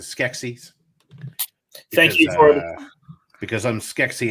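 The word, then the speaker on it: Skeksis: was species oh yes everyone uses eatsies what was that it's it's actually pronounced the skexies thank you because i'm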